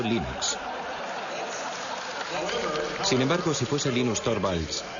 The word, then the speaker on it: Linux: otro día ya tenías 4000 usuarios el de Linux habid como jugar por correo el primer nombre